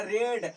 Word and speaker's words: read: तो spelling same है, ठीक है, लेकिन उसका पढ़ने का खाली तरीका बदल जाता है। रीड रेड रेड पढ़ते हैं, लिखाएगा वही लेकिन पढ़ना वही है।